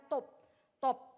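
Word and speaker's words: טוֹב: Nah, kata lebih baik itu dalam bahasa aslinya dipakai kata tobe. Bacanya, pelafalannya top, saudaraku.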